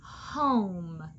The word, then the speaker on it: home: po home and the the magic e is silent that means it doesn't make a sound so home is the word home